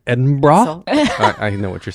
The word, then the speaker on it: Edinburgh: Pronounced Edinburgh.